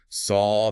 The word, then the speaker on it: saw: Saw that clear aw sound.